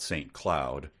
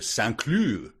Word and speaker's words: St. Cloud: cloud, but you it's from the French. Of course, you wouldn't pronounce if you did. You came in like, "Yeah, I'm going to take my car. I'll probably drive up to Sloo."